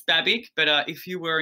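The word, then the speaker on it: Babić: babic um baby yeah it's croatian so i think it's technically got an accent on the end so uh but yeah it's it's babic but uh if you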